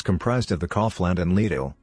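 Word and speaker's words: Lidl: of the kaufland and lido rhymes with needle discount supermarkets schwartz inherited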